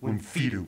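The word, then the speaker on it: wimphydupe: Wimfidoop. Wimfidoop. How do you spell that? Emphasis on the fee.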